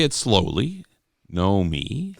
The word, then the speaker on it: Nomi: say it slow slowly no me how can you say it slowly there's two syllables no me or no me m